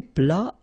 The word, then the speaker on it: plat: Then un plat principal, final T here, not pronounced.